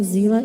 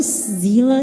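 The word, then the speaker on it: Seele: wrong with pronouncing it zela either Tommy that's a consistency issue I know Zilla is the original German pronunciation but they've been pronouncing it seal for six years and so I will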